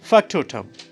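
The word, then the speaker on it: factotum: displayed it's f-a-c-t-o-t-u-m okay so can we just pronounce it okay okay try try try great so it's what it's Factor term Factor term so factor to me both of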